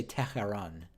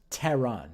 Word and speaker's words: Tehran: said it wrong Tehran so I also hear some people say Tehran but I don't I don't know that that's correct Tehran yeah that's the right pronunciation interviews people asking about